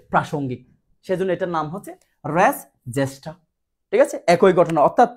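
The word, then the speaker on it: res gestae: race জেষ্টা সম্পর্কে বলছে race এটার উচ্চারণ অনেকে জানে না জেষ্টা এটাকে বলা হয় জেষ্টা জি এস টি a race জেষ্টা বলা হচ্ছে আপনার যে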